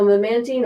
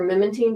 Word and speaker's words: memantine: So memantine or memantine, depending on how you say it, is it modulates the NMDA receptor, and it modulates glutamate.